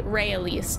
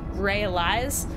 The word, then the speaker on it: Raealise: because with mine so my name is technically rey elise a lot of people say realize uh just because of how it's spelled so like i now